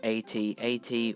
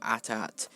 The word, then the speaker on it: AT-AT: I will accept AT-AT or AT-AT. It's pronounced differently by most fans, but the Imperial Walkers are spelled AT-AT.